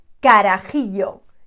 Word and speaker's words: carajillo: that we call it careful with the pronunciation un carajillo i'm exaggerating but yeah it's got a bit of that it's like a very